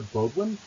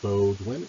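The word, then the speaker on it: Beaudoin: My name is an anglicized spelling of a Swiss-French name, B-E-A-U-D-O-I-N. So the O in Bodwin is a long O because of its origins.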